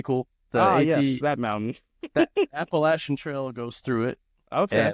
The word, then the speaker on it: Appalachia: the appalachin hell yeah you're saying it you're pronouncing it correctly apparently Appalachia Appalachia there's um there's a cool little building like